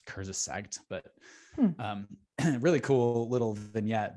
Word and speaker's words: Kurzgesagt: I think it's pronounced Kurzgesagt, but really cool little vignette.